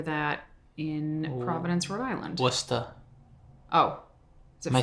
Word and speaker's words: Worcester: Well, we just call it Worcester.